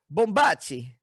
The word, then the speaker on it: Bombaci: sitting here with pete bombachi dude i love your last name oh thanks man is it like is it italian yep yep bombacci nice there you go that's the perfect pronunciation oh wait do you